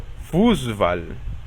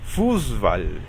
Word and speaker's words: Fußball: Esta letra, que en el abecedario recibe el nombre de SZ, se pronuncia como una S normal, pero causa que la vocal anterior se alargue. Por ejemplo, Fußball, que significa fútbol.